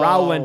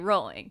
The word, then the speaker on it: Rowland: Jason Kelly Roland yeah I think I said Rowland in the episode and got reamed for oh like JK rolling is rolling yeah it's it's pronounced but it's r l a n I was like JK rolling oh is that it's r w so both of them are pronounced rolling like L biscuit ah